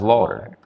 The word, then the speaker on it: Laughter: If I'm in marketing, that really works in my advantage cuz people remember it looks like Laughter, but it's pronounced Lauder.